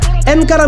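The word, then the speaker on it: encara: আর সেই গোলের সময় ধারাভাষ্যকার চিৎকার করে বলছিলেন এনকারা মেসি যার অর্থ মেসি এখনো যাচ্ছেন কিন্তু অতি আনন্দের কারণে ধারাভাষ্যকার আনকারা মেসি বলে ভুল উচ্চারণ করে বসেন কিন্তু এই ভুল জেনেও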